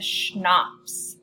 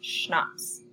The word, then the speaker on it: CHNOPS: this is on the schnapps that's how you pronounce this down here CH n 0 PS schnapps so this will just